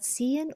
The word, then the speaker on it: ziehen: There's a T sound in the Z.